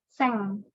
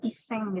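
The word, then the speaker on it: 千: Nah, untuk 1000 sampai 9000 itu seng, pakai seng ininya. Cara bacanya karena 1000 itu seng atau iseng gitu ya. Tapi umumnya seng aja udah cukup.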